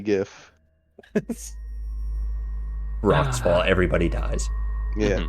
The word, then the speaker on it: GIF: The hard G GIF.